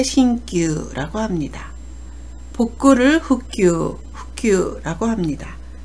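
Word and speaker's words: 新旧: 신구, 새 것과 낡은 것을 표현할 때 신규라고 합니다.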